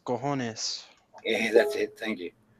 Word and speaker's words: cojones: I'm Spanish, and I believe the proper pronounce it is cojones.